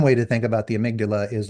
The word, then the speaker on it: amygdala: And a fun way to think about the amygdala is like the bouncer to club brain. And to not say amygdala, I actually renamed her in my brain Amy G. Dalla, which is how amygdala is spelled.